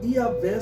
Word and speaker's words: Yahvé: Mas isso não justifica a pronúncia aceita praticamente pela maioria dos intérpretes, é que Yahvé seria a pronúncia mais próxima, do original.